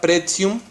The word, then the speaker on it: pretium: Tenemos la palabra pretium. Recuerda que la pronunciación de una T, que luego sigue la I y otra vocal, es TS. Entonces esta T funciona como TS.